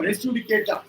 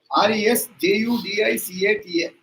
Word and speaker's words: res judicata: Section 11 of the CPC that talks about res judicata. RESJUDICATA. Res judicata. Most of us have got the habit of pronouncing it as one word. No. Res judicata.